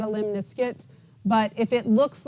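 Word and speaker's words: lemniscate: last category is a limniscuit it rhymes with Limp Biscuit that's how you can remember it limit okay so our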